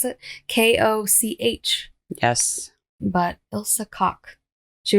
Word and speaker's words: Koch: That's how they pronounce it. Koch.